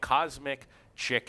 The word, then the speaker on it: Cosmic Chic: all that said, and I pick Cosmic Chick here. I know it's spelled Chic, but I talked to Bro McBride, they forgot to put the K on there.